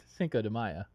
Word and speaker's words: Cinco de Mayo: Cinco de Mayo pronounced Cinco de Mayo in Mexico.